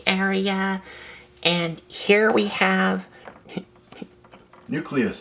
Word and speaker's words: Nucleous: And here we have nucleus. Nucleus. I said it right. Nucleus on the reviewing area. Not nucleon. Nucleus. Right.